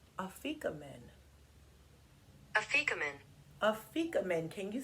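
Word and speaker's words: Afikoman: Afrikomen. Afrikomen.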